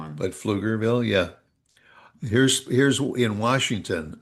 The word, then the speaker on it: Pflugerville: You You flug flug Pflugerville, Texas is flu But it's p f l u g. So, but people have a tendency to say ville. say Pluger Plugerville or I don't know on that one.